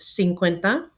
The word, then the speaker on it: cincuenta: it's based on the word Cinco again it's pronounced cincuenta there's you some examples of how those would